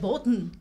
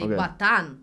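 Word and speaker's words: батон: uh let's you know let's learn batan proper the stress so you said Bon and no one would understand that you say batan ban yeah and the stress is on the a for B yes b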